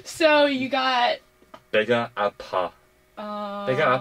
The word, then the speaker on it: 아파: 배가 아파. 배가 아파요. Oh, my stomach hurts. Not 배가 오파. 배고파. No, I'm not hungry. 배가 아파. My stomach hurts.